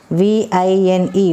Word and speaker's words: vine: produce weave for example v i n e Vine Vine Vine we are pressing our lower lips with upper teeth when we pronounce w